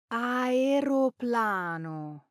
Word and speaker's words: aeroplano: airplane, Aeroplano. not, Aeroplano. and Aeronautica. aeronautics, pronounced Aeronautica.